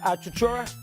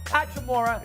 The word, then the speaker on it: Hachimura: The Washington, the guy they got from the Bullets, Chachura. He's a good little player. He can, how do you pronounce his last name? What? Hachimura.